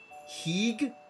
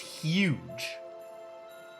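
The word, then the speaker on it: hygge: Heeg? Heeg? Excuse me? Hang on, we're Googling this one too. Apparently it's pronounced huge.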